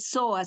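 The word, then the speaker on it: psoas: lo van a entender se llama el soa se escribe psoa ese zoas se llama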